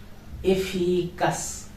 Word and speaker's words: eficaz: Eficaz, eficaz, cas, because this letter name is zeta. In English it is Z, but in Spanish it is zeta. It will be pronounced like sa, sa.